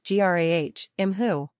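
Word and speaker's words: grá thú: try Graham Thursday this is pronounced g-r-a-h IM who notice that the first word is actually two syllables even though it looks like it might be just one also note that the first syllable is stressed rather than the second this is a shorter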